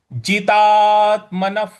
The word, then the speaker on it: जितात्मनः: यहाँ जो विसर्ग है उसके आगे प लिखा हुआ है। तो प के बाद का जो अक्षर होता है वो फ होता है। तो यहाँ पर विसर्ग को हम फ के उच्चारण में लाएंगे। तो इसको हम इस प्रकार पढ़ेंगे।